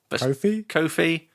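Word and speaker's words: Ko-fi: And we're going to plug the, how do you say it, Coffee or Kofi? Kofi? Kofi.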